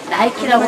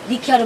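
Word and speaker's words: Νίκη: 그래서 전쟁 나가고 공을 많이 써 나이키라고 말씀하지 마시고요. 니키아로 발음하시면 원어로 발음하시는 게 됩니다.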